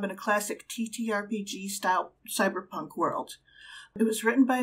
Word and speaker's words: cbr+pnk: it's a cyberpunk game it is pronounced cyberpunk but it's actually spelled